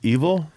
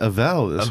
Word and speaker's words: Evel: mister Evel Knievel oh it's pronounced evil what are you thinking I've been saying eval velkan eval eval Knievel